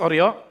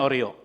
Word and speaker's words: Oreo: Bacanya bukan Oreo, tapi Oreo. 1, 2, 3, Oreo. O yang pertama hitam. O yang kedua juga hitam. Tapi di tengahnya ada re. Singkatan apa re itu? Krim. Tapi dibuat re. Jadi bacanya O, re, o. Sebut O, re, o.